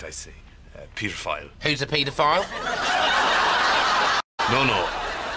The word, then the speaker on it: Peter File: Peter File. Who's a pedophile? No. No. His name is Peter File. His name is pedophile. Don't say it like that. It sounds like pedophile.